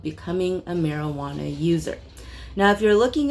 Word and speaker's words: marijuana: it is, once again, marijuana spelled with an H, simply because we didn't actually know how Spanish worked back then. And the J sound then, we used an H.